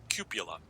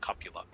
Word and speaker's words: cupola: But it might hit the cupola, which people mispronounce cupula. It's pronounced cupula.